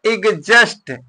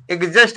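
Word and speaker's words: exhaust: क्या लिखा गया है एजेस्ट एजेस्ट मींस निकास यहां पर भी देखिए एच क्या है साइलेंट है तो ध्यान रखिएगा कुछ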